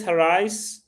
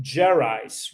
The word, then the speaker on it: Gerais: So he's 95% from Minas Gerais, or no, you call it Gerais, right? You guys do the hard G.